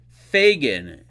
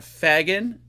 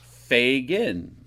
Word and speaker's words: Fagan: like Jamaican fogan hello Fagan it is pronounced Fagan f a y g i n g n there you go if you want to know the proper pronunciation of the last name it's not Fagen it's Fagan even though when I was in grammar school